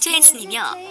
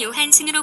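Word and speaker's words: Johansson: 스웨덴계 성이긴 해도 미국인이기 때문에 외래어표 기법에 맞는 표기는 스카락 조함슨의 미국 영어식 발음을 따른 스칼립 조한슨이며 본인도 이렇게 발음한다. 별명도 이럴 중 약한 스카조. 그러나 대한민국에선 처음 소개될 당시의 이름인 스칼렛 요한슨으로 굳어졌다.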